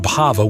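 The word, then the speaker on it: bhāva: Bhava means becoming. You make it bava with a long a and it becomes emotion.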